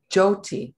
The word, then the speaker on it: Jyoti: So it's pronounced Jyoti? Jyoti, thank you.